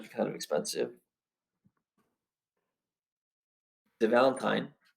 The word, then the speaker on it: Valentin: The Valentine. How do you pronounce that? Valentine or Valentin? Valentin.